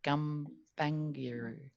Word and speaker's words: Gumbaynggirr: Gumbaynggirr.